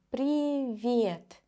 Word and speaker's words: Привет: Pay attention to the pronunciation. Привет. The sound that the letter V gives me is a little bit soft. V. V. To pronounce a softer V, start with the normal V.